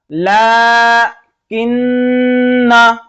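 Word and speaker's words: لٰكِنَّا: हमें मिलाकर पढ़ना हो तो ये अलिफ को नहीं पढ़ेंगे, लेकिन हमें रुकना है ला किन्ना, तो हम अलिफ पर अलिफ मद्दा लगा देंगे। ठीक है, ला किन्ना करके पढ़ेंगे।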